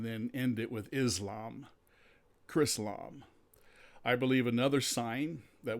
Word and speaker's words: Chrislam: You spell that C-H-R and then end it with Islam. Chrislam.